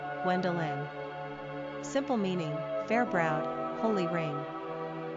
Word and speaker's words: Gwendolyn: Pronunciation, Gwendolyn.